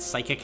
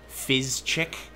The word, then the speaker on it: psychic: type of kid who didn't quite understand that psychic had a silent P and somehow I put a CH in there so it was like fizzchick my favorite legendary Pokemon